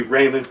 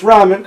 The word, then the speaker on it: ramen: don't know ramen noodles that's pronounced ramen in america if we went by the english language it'd be raymond but since it's an oriental thing it's ramen surely shirley used to